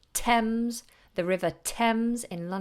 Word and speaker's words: Thames: very few of them they have an letter T and H together but we don't do or mmm we say Thames the River Thames in